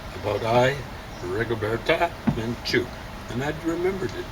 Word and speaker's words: Rigoberta Menchú: Let's see what Mark Stein says about Rigoberta Menchú. And I remembered it. There was accent on the second syllable.